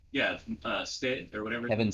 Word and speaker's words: Stitt: Well, I mean, his name rhymes with shit. Yeah, Stitt or whatever. Kevin Stitt.